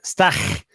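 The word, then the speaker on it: Stach: So yeah, uh Pierre is in it pronounced stack. It's pronounced stack. Stack. There's a drawn out ch on it, but because of German, but uh we'll take stack.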